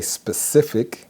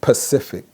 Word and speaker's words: specific: The correct pronunciation is library. The second word that people use incorrectly, they want to say specific, which is correct.